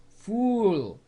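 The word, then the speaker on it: ful: Number 4, fool. It does not mean the same word as fool, and as in the English word fool, but it's pronounced the same.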